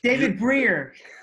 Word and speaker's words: Brier: hat for a nanosecond going because only because david brier there was a there was actually there was